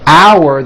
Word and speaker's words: hour: Also, while we are on the subject, note the word hour that is used for telling time is pronounced exactly the same way as in our meeting is in 1 hour.